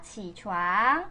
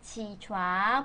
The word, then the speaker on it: 起床: 지촨. 지촨. 발음할 때 지. 이건 일어나면 안 돼.